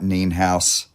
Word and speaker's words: Nienhaus: on songwriter Studio we have Terry Rogers nean house I hope I'm pronouncing your last name correctly yes you are